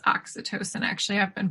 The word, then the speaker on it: oxytocin: happens in our body we release you know acetosin when i think it's pronounced oxytocin actually i've been pronouncing it incorrectly but when